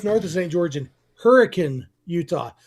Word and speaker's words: Hurricane: George in Hurricane, Utah. Spelled like hurricane, pronounced like hurricane, for a baseball tournament.